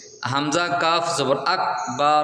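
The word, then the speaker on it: أكبر: আ গ আগ বকার রবার আকবার এটা ক্রস অর্থাৎ আকবার কফ কাফের জায়গায় ক এর স্থলে গ অক্ষর যদি আসে তাহলে আপনার নামাজ বাতিল হয়ে যাবে হামজা কাফ জবর আকবার র জবর বার আকবার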